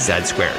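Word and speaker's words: Z²: the sequel to Ziltoid, entitled Z2, pronounced Z-squared, which acts as Ziltoid against the world.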